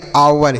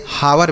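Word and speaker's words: hour: इसे हावर बिल्कुल नहीं पढ़ेंगे।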